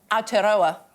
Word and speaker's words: Aotearoa: that covers the length of, how do I pronounce it? Aotearoa in New Zealand.